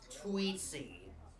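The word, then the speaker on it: Tweetsie: Um, it's pronounced tweetsy.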